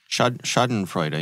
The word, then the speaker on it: Schadenfreude: are so many, how do you say it, Schadenfreude? Schadenfreude, yeah.